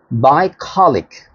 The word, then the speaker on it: bucolic: Bucolic. This will be the actual pronunciation of this word.